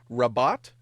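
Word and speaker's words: Rabat: It is uh, and I'm just going to spell this in addition to saying because I uh, maybe pronouncing it raot.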